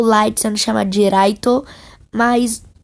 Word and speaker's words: Light: dos próprios autores que na verdade se lê light light se light e que o horário oito deles é porque eles têm dificuldade para pronunciar raito light recebeu o caderno